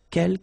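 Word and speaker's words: quelques: the second one uh K you don't pronounce the final s here Kel means few okay and same thing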